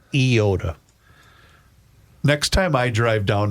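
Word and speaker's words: Eyota: 50 years of listening to school closings and I swear they said iota.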